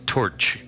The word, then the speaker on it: Toyd: It's pronounced torch, goddammit. It's Gaelic.